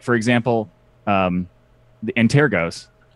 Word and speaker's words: Antergos: Like for example, the Antergos. Like a lot of people say all kinds of weird things. Yes. Antigros is the most popular. The anti-gross There goes- is weird.